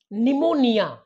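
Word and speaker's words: pneumonia: spelling अगोदर बघून घ्या पी एन इ यु एम ओ एन आय ए यामध्ये पी एन असल्यामुळे तुम्हाला पी चा उच्चार करायचा नाहीये ओके नेक्स्ट पहा सायकी म्हणतो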